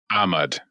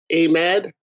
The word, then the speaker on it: Ahmad: uh ahmad yeah yeah technically the emphasis on the first syllable ahmad okay yeah so it's